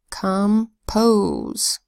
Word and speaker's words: compose: a long o sound come pose come is an unstressed syllable so the vowel there actually sounds a little more like a short you it's a schwa sound come posed next word